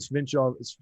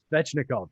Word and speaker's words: Svechnikov: And then just to round off some of the numbers behind some of the things you said, Aho and Svinchov, I can never say his name. Svechnikov, thank you.